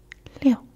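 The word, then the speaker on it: 六: 6 is liu.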